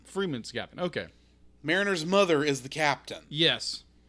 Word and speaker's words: Mariner: our um Merina and I'm I'm Pro not pronouncing your name or marinina Mariner Mariner and what's the guy's name boyler boyler